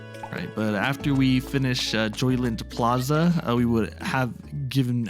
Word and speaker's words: Joyland: comment on earlier so we've always pronounced it jolians but for whatever reason actually I only realized this pretty recently it's spelled Joyland in this game I don't even know